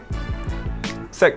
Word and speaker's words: 識: I will say 識. Sek means I know how to speak it. I will not say hi because that's kind of like saying yes in a very generic way.